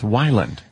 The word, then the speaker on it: Weiland: baylin's way lot or sometimes violent but it's Wyland mary while and what a pleasure man i